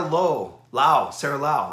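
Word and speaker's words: Laug: We have Sarah Lau. I learned this. Her last name is actually spelled L-A-U-G, but the G is silent. And she told me it was like the Chinese Lao.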